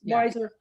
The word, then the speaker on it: Weiser: a a regent uh Ron Weiser is that how you pronounce his name yes wiser yes who in I guess